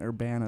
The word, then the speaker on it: Urbana: so David your graduate from University of Illinois Urbana right or banner that's how you pronounce it vanish Champaign Champaign there you go